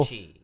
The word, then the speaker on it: Tochi: Tochi.